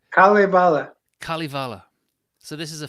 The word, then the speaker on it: Kalevala: Like that so the ca- go on, you pronounce the Kavalav. It's not that. What is it? Kalevala.